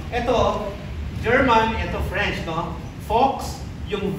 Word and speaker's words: Volks: Fox, yung V is pronounced as F.